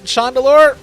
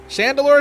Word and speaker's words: Chandelure: I've been pronouncing Shandelure. Shandelure for a long time. Chandelure.